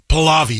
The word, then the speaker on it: Pahlavi: Pahlavi, yes.